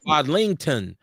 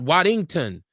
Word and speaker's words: Wadlington: She said it's Wadlington, not Waddington.